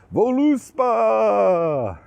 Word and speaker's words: Voluspa: And in this case, the game I want to talk about is voluspa, or better yet pronounced voluspa.